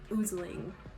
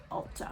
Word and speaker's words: ulzzang: on youtube i swear they pronounced it oozning oozling it's not loosely like maybe if the romanization kind of looks like that in english but it's ultron i'm gonna take myself